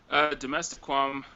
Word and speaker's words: Domestic Quam: Domestic Quam is what I've been going with. Okay. You It's, can't I mean, So- essentially, it's just a goof on my last name.